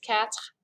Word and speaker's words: quatre: 4, remember last time we talked about how this is pronounced like meow, cat, because quatre just sounds like that.